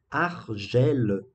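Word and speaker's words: Alger: ele se passa é um argello é pronúncia francesa mesmo que é uma é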